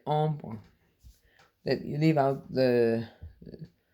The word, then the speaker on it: hombre: It's Hombre, and you don't say hombre or hombre. You say ombre.